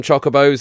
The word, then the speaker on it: Chocobo: It looks so much fun, and before anyone corrects me down in the comments, I know it's pronounced Chocobo, but I've always called them Chocobos and I really can't get out of the habit.